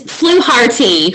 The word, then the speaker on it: Fluharty: It's Fluharty. Fluharty. Okay, that's actually, it's the way it's like written. Identical to the way it's spelled, written.